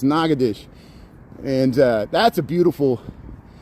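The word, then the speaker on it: Natchitoches: the two Nagadoshas, but the one in Louisiana, they pronounce it the French way. Nagadish. Am I saying it right? It looks like Nagadocious, but it's Nagadesh.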